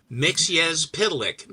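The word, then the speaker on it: Mxyzptlk: can clear this up this is the correct pronunciation of Mr mix pic mix yes pic and that's it period there ain't no variation I saw it once and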